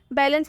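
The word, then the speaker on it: balance: बैलेंस में सी के बाद ई आ रहा है तो इसका उच्चारण स होगा।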